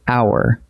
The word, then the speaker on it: hour: Take the word hour. We write it with an H, but the H is silent, so hour opens with a vowel sound.